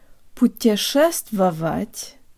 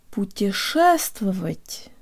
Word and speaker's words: путешествовать: to tell you about Russian words usually have only one stressed syllable and all the other syllables are much shorter and less emphasized than unstressed syllables in English and we can really make this word sound Russian by de-emphasizing every syllable except the stressed one it's not put your chest velvet but rather put your first of it put your ass to